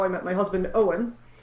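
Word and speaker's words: Eoin: i met my husband owen so yeah that's how you pronounce his name in case anybody has been reading my blog and see this name that's e-o-i-n yeah it's owen that's my husband and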